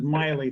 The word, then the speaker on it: Miley: motion thank you mr is it miley or milly was i mispronouncing your name all day is he still on i am now the name is miley thank you that's fine